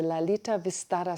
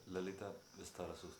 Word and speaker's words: Lalita Vistara: Lolita Vistara. Lolita Vistara Sutra. Okay. So that sounds much better, much more like Sanskrit.